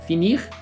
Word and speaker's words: fini: Finir, fini. Novamente, a pronúncia é a mesma.